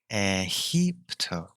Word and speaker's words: EGIPTO: So the mantra is EGIPTO. It is spelt EGIPTO, literally, but actually it is pronounced EGIPTO. So the G is actually pronounced as H.